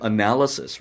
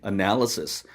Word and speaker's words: analysis: analysis, right? analysis, analysis, analysis, analysis. 분석이죠. 분석이란 단어. 나중에 머릿속에 그냥 대충 스펠링은 지나가는데 발음 안 나오면은 쓸 수 없는 것이죠.